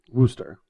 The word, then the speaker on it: Worcester: The middle R is silent. Worcester. And it's not too long of an O. Not oo. Worcester.